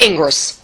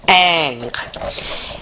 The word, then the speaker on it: Ingres: Our next painter is Ingres. It looks like Ingres, but it's pronounced Ingres.